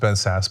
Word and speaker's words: Sasse: shown some principle I know his name is pronounced Ben Sasse but I like to call him classy Ben Sasse and eat to read it out mr.